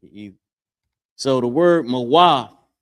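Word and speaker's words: מוות: So the word mawaf. Character ma by itself, character wa, and the character tha. Mawa, right? That's how it's pronounced.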